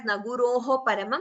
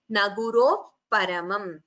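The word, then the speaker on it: न गुरोः परम्: You don't chant it as Naguroho Paramam. While chanting together, we chant it as Naguroh Paramam. So Upadhmaniya is you expel the air and immediately close your lips.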